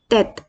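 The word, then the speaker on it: tête: Basically इसका generally कोई extra ordinary sound नहीं होता, ये एक ठहराव के साथ हल्का सा रुक के हम इसे प्रोनाउंस करते हैं, जैसे तेत तेत तेत।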